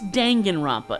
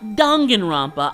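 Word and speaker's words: Danganronpa: dangan rompa series and yes it's dangen Roma not dongan Roma I don't give a how they pronounced it in V3 look Makoto is so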